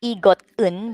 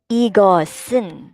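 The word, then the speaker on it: 이것은: ee got in so the pachim here the seat the s sound that we have here will go up with the un so the pronunciation will not be egot un but instead it should be heard like smoothly so ego sin so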